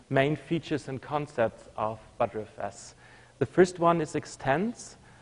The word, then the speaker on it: btrfs: cow, and this is why btrfs comes from cow, and why we say btrfs. So that's the right pronunciation, and this is how the inventor of btrfs explained it to me, because butter comes from the cow, it is called btrfs. Not btrfs, not btrfs, it's btrfs.